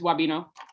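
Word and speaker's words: Wabeno: I want to pronounce it Wabino for some reason. It's Wabino.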